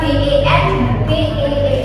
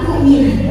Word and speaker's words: been: Misalnya BEN bacanya bukan ben tetapi been ya, diikuti form 3.